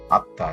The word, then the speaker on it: আত্মা: আত্মা, এখানে মোটা উচ্চারণ হয়নি, এখানে চন্দ্রবিন্দু আকারে মোটা রয়ে গেছে।